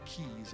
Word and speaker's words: quays: This area over here, I've already done my quays, or keys, I guess. That's how you pronounce it, around here.